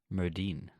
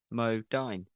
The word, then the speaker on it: Modine: And I did forget Matthew Modine was in it, so. Mm-hmm. Is it Modine? I've been saying that wrong. Why? What have you been saying? Modine. Well, it's Dine, isn't it? D-I-N-E. Modine.